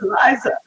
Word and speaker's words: Liza: We're going to talk about that because I was mispronouncing it, and you said, "Oh no, it's Liza."